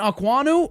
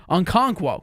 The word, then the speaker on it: Okonkwo: Tight end Okwonu, I'm sure I pronounced that wrong. Okonkwo, that's how you pronounce it, my fault.